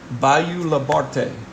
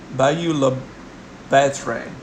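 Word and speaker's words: Bayou La Batre: So basically going in around Bayou Labarte. Bayou Labatre. Batre is going to be better pronunciation of it.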